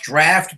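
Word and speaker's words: Draught: Yeah, I had that um the the Guinness drought, right? Am I correct? I believe it's pronounced Draft, but yeah, that's that's exactly the beer.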